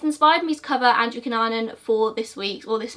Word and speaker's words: Cunanan: case of Andrew Cunanan I'm gonna say Andrew Cunanan some different documentaries and news reports pronounced dick Coonan or Cunanan so I recently watched American